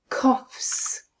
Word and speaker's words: coughs: Let's have a look at the sounds in that word. K, o, short vowel. O as in on. F, s. Coughs.